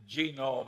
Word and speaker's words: genome: I mentioned that one book genome I have a hell of a time putting the accent on the first syllable but that is a